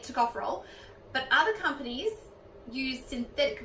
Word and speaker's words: tocopherol: So we found out also vitamin E, which is called tocopherol, which Jess calls something else. Tocopherol. That's actually pronounced tocopherol.